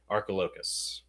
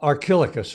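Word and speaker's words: Archilochus: hedgehog one good one arco locus am i pronouncing that correctly arcolocus it's uh uh archilicus really our kilograms okay thank you yes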